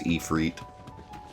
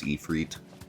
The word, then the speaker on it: Ifrit: Yeah, everyone also says Ifrit, which I think is the actual way you're supposed to pronounce it. Like the actual root Latin word. I think it's Ifrit, but I've always said Ifrit.